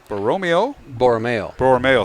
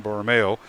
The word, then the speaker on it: Borromeo: Also, Jude Borromeo, thank you. I had the accent on the wrong syllable once again, Borromeo.